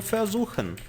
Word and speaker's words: versuchen: Onde versucht, tentou ou ter tentado, onde versucht é o passado perfeito do verbo versuchen. Vou colocar a pronúncia aqui, ó, versuchen, só para assim no fundo da garganta, ó.